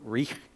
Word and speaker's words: Reich: I'm pretty sure you pronounce it Reich, but anyway, Herbert and Willem.